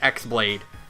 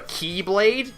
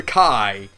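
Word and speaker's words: χ-blade: on them, so we just call it the X Blade. Or, it's technically called the Keyblade, because that's how you pronounce it. But, even Xehanort himself says, people also call it the Kai.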